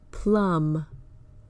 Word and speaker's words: plum: for when the B is silent words like crumb lamb plum the B follows the m at the end of the word and that indicates that it is usually silent an exception is the